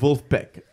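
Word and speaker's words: Vulfpeck: fliers has members of wolf Beck the original respect v UL f PE ck is pronounced with a w like a wolf like wooden pack pack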